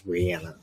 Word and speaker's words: Rihanna: halftime show they're her actual name how you pronounce it is Rihanna oh well all right Rihanna yeah whatever yeah